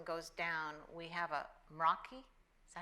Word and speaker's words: Meraki: So now if for some reason, again, the county system goes down, we have a Meraki, is that how you say it? Yeah, it's a Meraki.